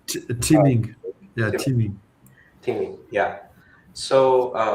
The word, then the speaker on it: Qiming: Quick, am I pronouncing? Qiming.